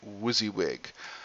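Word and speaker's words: WYSIWYG: get uh editing window sometimes we abbreviate that Wuzzy wig so what you see is what you get people pronounce that wizzywig um and what that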